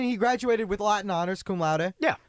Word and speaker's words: cum laude: How do you pronounce that? Cum laude. You said it right. Yeah, I always thought it was. I wouldn't know how it's pronounced because I'm not going to get it. I always thought it was pronounced cum loud. I honestly, and I was like, that makes a lot of sense that you don't pronounce it that way.